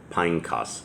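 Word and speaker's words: Phinehas: hill that belonged to pineas pineos is how that's actually pronounced his son which was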